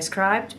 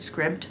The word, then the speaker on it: Scribd: it is UNS scribed I always used to say scribed but I heard somebody or I actually heard the audio book narrator of this book pronounce it script it is available on